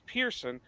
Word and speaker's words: Pearson: how it you know how we pronounce it it's Pearson they always want to spell it p-i-e-r-s-o-e that's not it it's p-e-a-r-s-o-n it's just somehow when the great grandparents came across the boat it change pronunciations along with spellings so but I love